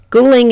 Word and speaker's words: Guling: to Ghoulie there one in the same place cooling is the town's name in mandarin and qu yang is how you pronounce it in the local Virginis dialect 100